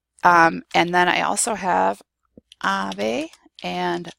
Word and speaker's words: ave: And then I also have ave and sábado. So there you have the B and the V both in similar positions, and they're both pronounced the same.